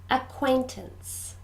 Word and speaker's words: acquaintances: family members good seven acquaintances this word has three syllables and we stress the middle one acquaintances acquaintances good to